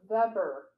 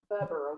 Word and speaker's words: Weber: Oh, Adurna says, by the way, Weber is pronounced with the V sound. Oh, Weber. Weber, okay.